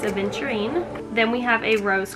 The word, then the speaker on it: aventurine: an additional green um aventurite or aventurine i think i've been saying it wrong last time it's aventurine then we have a